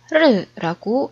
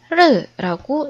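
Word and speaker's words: 日: 말 1은 우리나라 발음으로는 1이라고 말하지만 중국어에서는이 한자를 르라고 읽습니다. 앞에 오리엔테이션 강의에서 중국어의 병음과 성주에 대해서 간략하게 설명했던 적이 있죠. 영어로 Ri라고 써져 있는 부분이 바로 중국어의 발음을 표현하는 병음이고 그 위에 점을 이렇게 찍어 준 부분이 억양을 표현하는 성조가 됩니다. 여기서는 위에서 아래로 뚝 떨어지는 4성의 모양으로 점이 찍혀 있기 때문에 르라고 읽어 주면 되겠네요.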